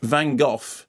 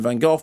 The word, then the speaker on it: Van Gogh: We established a couple of weeks ago that Van Gogh isn't pronounced Van Gogh, it's pronounced Van Gogh.